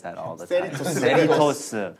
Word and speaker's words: Cerritos: Cerritos. How does sound? How does it pronounce it?